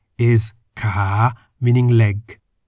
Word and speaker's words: ขา: An example of a word containing Kor Kai is Ka, meaning leg. Ka is in the rising tone.